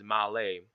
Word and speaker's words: Malé: The state capital is Malé with the little accent on the E, and the dominant religion is Islam.